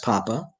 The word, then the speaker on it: papa: Young people should be taught to say yes, papa, or father if preferred, no, mama, or mother if preferred, with accent on the second syllable of mama and papa.